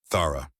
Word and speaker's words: Thara: Thara. Elias repeated her name carefully, getting the emphasis right on the first syllable like he actually cared about pronouncing it correctly.